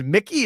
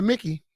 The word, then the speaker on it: Mickey: It's Mickey. It looks like it's spelled Mikey. But they call it Mickey.